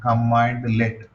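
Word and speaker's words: cmdlet: we have command let so we should pronounce like this one command let but while writing command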